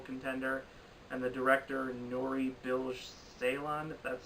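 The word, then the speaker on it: Nuri Bilge Ceylan: can Film Festival contender and the director and nori bilge Ceylan that's how you say his name he won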